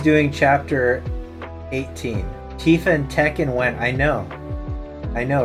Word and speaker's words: Tekken: Tekken is the correct pronunciation, Sleep Easy.